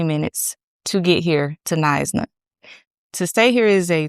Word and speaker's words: Knysna: It is in Nisna, South Africa. That is how you pronounce that. Nisna, South Africa.